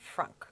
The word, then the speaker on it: frunk: okay let's go take a look at the frunk okay is that how you say it yes